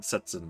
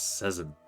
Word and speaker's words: Sezin: I almost said Setsin, but it's Sezin.